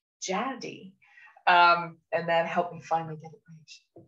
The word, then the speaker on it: Jade: She pronounces it Jaddy. Jaddy. And I struggled with that. And eventually I thought of Chatty. So in brackets beside her name, I have rhymes with Chatty, Jaddy.